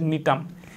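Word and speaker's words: Gnetum: কি যেমন হচ্ছে নিটাম নিটাম বানানটা তোমরা দেখবে এটা কিন্তু জি দিয়ে শুরু জি দিয়ে শুরু বা জি এর উচ্চারণটা উজ্য থাকে এটা হচ্ছে নিটাম এনই জি এনইটি ইউ এম নিটাম আচ্ছা এরপরে হচ্ছে যে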